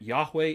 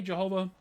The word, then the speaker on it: Yahweh: uh reasonable certainty that Yahweh is the proper pronunciation if you want to say Jehovah more power to you all right um that VA that V that's a modern innovation in terms of pronunciation of Hebrew letters from what we know it was a w sound it was a sound away right so um but